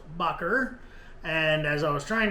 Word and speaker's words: Baugher: said it in front of her, but I pronounced it Bauer. And I was recently corrected on that, and it is actually pronounced Baugher.